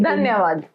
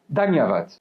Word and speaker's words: dhanyavad: Dhanyavad. Dhanyavad.